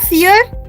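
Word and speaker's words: vier: Kartikeya, fear. We write we know. There is not F. We don't use F. The pronunciation is F, but the number is V. Yeah, the alphabet is V.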